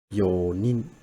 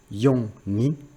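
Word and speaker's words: 四人: be like 4 people, yonin. So they don't say yon nin or yon hito, and they don't say shi nin, right? So they just say yo nin.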